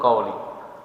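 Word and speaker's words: qauli: Ya, beliau bacanya kauli dan mungkin sangat mungkin memang pertanyaannya itu tulisannya seperti itu kauli dan ustaz ee kita ini tidak bisa menjawabnya.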